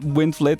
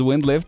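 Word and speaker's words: Windflit: I mispronounced wind flit as wind lift, and I was like, nah, I'm not pronouncing your name correctly.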